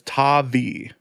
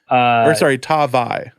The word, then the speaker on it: Tavai: The 2019 NFL Draft pronunciation guide. Interesting. Listed as Tavai. Tavai.